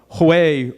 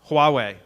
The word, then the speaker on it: Huawei: so say there was a sixel or a Hawaii router I think that's how you pronounce that that had that you knew has some what is it Huawei thank you a hawawa router they had some